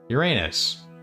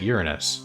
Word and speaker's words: Uranus: It's the planet Uranus. Well, okay. Some people say we don't pronounce it that way. We pronounce it Uranus.